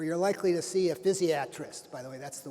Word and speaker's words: physiatrist: an anesthesiologist or you're likely to see a physiatrist by the way that's the way it's properly pronounced physiatrist not physiatrist physiatrist you're likely to see one